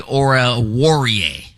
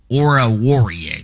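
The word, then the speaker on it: Amani Oruwariye: and one of uh Dallas's uh Defenders Amani Ora warier Ora warier that's how you say it so he tried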